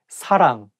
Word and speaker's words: 사랑: The same thing, like you have to say 사랑 with a softer S, not 사랑. And make sure that you pronounce 응 sound correctly. 사랑, not 사랑, 사람, or something else.